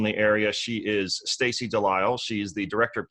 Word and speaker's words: Delisle: and professional in the area she is Stacy de lisle she is the director of community outreach and